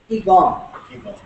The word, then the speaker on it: qigong: In China, they have a particular martial art which is called Qigong. Qigong. Or Qigong, whichever way you want to pronounce it.